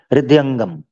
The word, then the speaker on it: हृदयंगम: हृदय क्या है वर्ड, बताइएगा? हृदयगम। हाँ, हृदयगम, थैंक यू। हृदयंगम, ठीक है, थैंक यू। अच्छा किया आपने मेरी प्रोनाउंसिएशन। हृदयगम, हृदय, ये हा जो है, हाँ, दिल, यानी दिल में, उनके मन में डाल दें। हृदय और अंग एक साथ मिला हुआ है, हृदयंगम। अच्छा ठीक है, हृदयंगम।